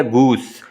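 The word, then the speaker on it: goose: ठीक है, ये गूज नहीं है बल्कि क्या, गूस।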